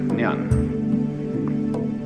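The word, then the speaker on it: 念: This it's pronounced nyan Japanese nen and the top part of the character uh means now and the bottom part means the mind heart the shin.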